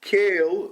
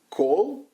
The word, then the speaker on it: Koehl: And the main guy was called Matt Cale, Mason calls him. Most people pronounce it Cole. It's Koehl, I think.